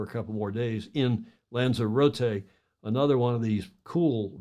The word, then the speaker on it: Lanzarote: Locally is a Spanish, the local pronunciation, Lanzarote, is a Spanish island, the